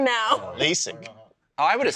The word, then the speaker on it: LASIK: Lazic?